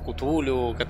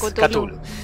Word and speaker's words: Cthulhu: Se pronuncia así, después de buscar varias veces cómo se pronunciaba. A veces que le decimos Cthulhu, bueno, sí, pero es Cthulhu.